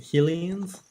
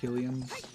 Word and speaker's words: Hylians: And Hylians. I think it actually is supposed to be pronounced Hylians, but That doesn't really make sense to me though, because it's Hyrule.